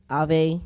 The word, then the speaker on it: AAVE: AAVE, Ave, that's how you pronounce it? Yeah.